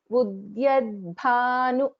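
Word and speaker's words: उद्यद्भानु: So when I pronounce it, both the letters need to be heard. Udyad bhanu, udyad bhanu. The dakara also should be heard.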